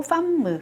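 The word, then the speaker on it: femme: 요거는 팜무 마찬가지로 요것도 m이 두 개이기 때문에요. 팡 이렇게 발음하지 않고 팜무 이렇게 발음을 합니다.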